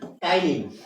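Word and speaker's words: ptyalin: टाइलिन, या फिर इसी को हम लोग पटाइलिन लिखते तो है लेकिन बोलते क्या है? टाइलिन। लिखते हैं पी से लेकिन बोलते वक्त ये पी साइलेंट हो जाएगा, तो हम इसको क्या बोलेंगे? टाइलिन, है ना।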